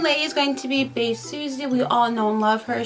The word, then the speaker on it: Bae Suzy: talk about the main characters today obviously it's bae lucy sorry i'm sorry the pronunciation is bad on this one but the main lady is going to be bae susie we all know love her she is so